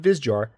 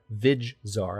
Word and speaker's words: Vizjar: Meanwhile, I can swoop in behind them and take Vizjar, not Vizjar, Vizjar. I've been mispronouncing that.